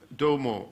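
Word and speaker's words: Desormeaux: Then we come to Antoine Jean Domo. I'm told that's the correct French pronunciation.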